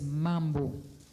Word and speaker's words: mambo: Pronunciation is a short O, so but that was the alternate pronunciation.